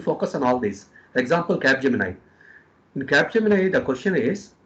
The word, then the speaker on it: Capgemini: Capgemini, that's how we pronounce.